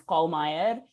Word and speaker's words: Calmeyer: Actually, so the last name Calmeyer is actually German. It's Calmeyer. That's how it's supposed to Yeah. be pronounced.